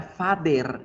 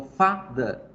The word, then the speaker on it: father: La palabra father, ya no vamos a decir father, no suena E, esta E va a sonar como una schwa, porque esa sílaba es la débil. Mire, la sílaba fuerte es fa, por eso digo father, father, father, father.